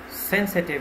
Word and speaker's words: sensitive: Sensitive is an adjective, so you have to stress on the first syllable, sensitive.